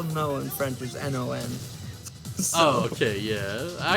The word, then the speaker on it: non: So usually, so when you say it, you just say no. You don't really pronounce the last N. Non. So you go no.